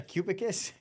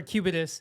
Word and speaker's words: Cubitus: say they got a Cubicus, Go get it. go get that Cubicus. Am I saying pronouncing it correctly? Cubicus? Or Cubitus. Cubitus.